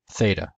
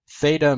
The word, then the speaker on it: theta: But the difference is tau in classical Greek made t with no aspiration, theta made t with an aspiration.